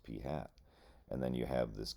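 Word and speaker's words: p̂: It's it's pronounced P hat.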